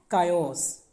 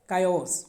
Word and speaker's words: chaos: Okay, जैसे एक word होता है CHAOS. ठीक है, इसको क्या बोलेंगे, कायोस, कायोस.